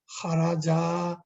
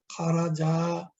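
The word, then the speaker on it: خَرَجَا: খারাজা, এই দেখেন প্লাস একটা আলিফ, প্লাস একটা আলিফ, তখন উচ্চারণটা হবে খারাজা, এক আলিফ লম্বা, খারাজা, খারাজা এক আলিফ লম্বা।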